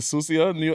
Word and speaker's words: Sucia: Yeah, we have Luis Cortez from the Susia NYC.